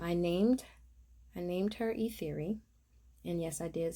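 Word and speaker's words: Ethyri: named i named her e theory and yes i did spell it right um again pronounce theory t-h-e-o-r-y but spelled e-t-h-y-r-i uh also short for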